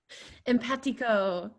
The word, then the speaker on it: Empatico: And Isabella, can you help me with how to pronounce their name? Empatico. Empatico.